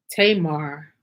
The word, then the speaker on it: Tamar: So Tamar will be pronounced something close to Tama.